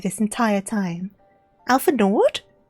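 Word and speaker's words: Alphinaud: That's not the pronunciation, is it? I've been saying Alfao this entire time. Alpha Nord.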